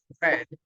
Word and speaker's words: read: second the pronunciation is red okay so that's the only thing impression we say read in past we say red and in past participle we say read okay that's the only